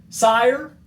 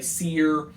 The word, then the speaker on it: Sire: There's been some discrepancy I've seen on the internet about how to pronounce it. Some people say Seer. A lot of variety. For our purposes, though, we're going with Sire.